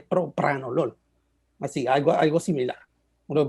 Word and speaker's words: propranolol: Así debería ser, así como cuando antes hablábamos de propanolol y es propranolol, así, algo similar.